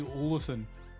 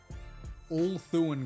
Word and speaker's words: Ulthuan: I almost always say Olathan. Ulthuan Gray.